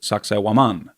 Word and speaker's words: Sacsayhuaman: It's called Sacsayhuaman. Some people pronounce it Sacsayhuaman.